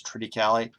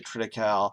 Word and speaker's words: triticale: pronounce that word, and there's apparently a wide variety of ways to pronounce it. The best online source that I found says Triticale, but people will say Triticale, which is how I've said it for years, or Triticale. I've heard that.